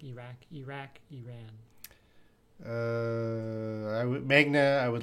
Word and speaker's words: Iran: I can't get it Mujib says we pronounce it Iran Americans in Canada they say you ran I think we said